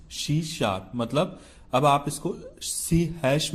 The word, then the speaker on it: C#: तो देखो यहां पे आपको स्क्रीन पे दिख रहा है सी#श इज़ प्रोनाउंस्ड C शार्प।